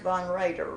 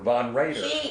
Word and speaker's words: Von Roeder: your name is Von Roeder. Is that right? It's pronounced Von Roeder. Von Roeder. She's always gotten it wrong, but I never corrected her. It's V-O-N and then capital R-O-E-D-E-R.